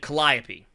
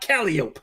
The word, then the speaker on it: Calliope: was that name again calliope not caliope I saw several videos